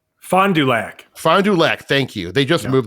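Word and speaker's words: Fond du Lac: Uh Fondul Fonduac. Fondulac. Thank you. They just moved there. So that that's they were pronouncing it wrong even.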